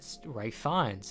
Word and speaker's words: Ralph Fiennes: And that's Rafe Fiennes. That's his name. It's not Ralph Fiennes, it's Rafe Fiennes.